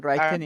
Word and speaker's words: writing: writings or writing La W no suena al inicio. okay Cuando ustedes writing vean la W en una palabra al inicio, no suena. Nada más se pronuncia la okay R.